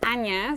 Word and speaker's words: Anja: Bueno, mi nombre es Anya, se escribe con J, pero ahí ya, pues el primer consejo de pronunciación, la J muchas veces la pronunciación es como una I o Y en español, ¿no?